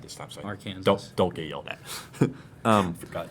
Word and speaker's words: Arkansas: So Arkansas.